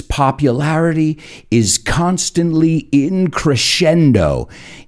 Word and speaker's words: crescendo: And I know it's popular, and that's why I said in the intro, its popularity is constantly in crescendo. Y sé que conocéis esa palabra, pero la pronunciación es un poco diferente.